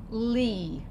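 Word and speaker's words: לי: So the lamed says ol. The yud is silent in this case, and so what's this going to say? Li, and that means to me.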